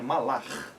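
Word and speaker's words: מלאך: É Malak, mas a pronúncia é gutural, né? Malach.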